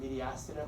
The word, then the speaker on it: mediastinum: I pronounce it the mediastinum. Some people pronounce it mediastinum. I'm not sure if there's a proper pronunciation, but spell it like that.